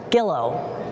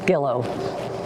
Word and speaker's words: Gilo: Today they join not just their hearts, but their surnames, embracing the new name Gillo. And they wanted me to remind you it rhymes with willow, so you can remember, because it's G-I-L-O, which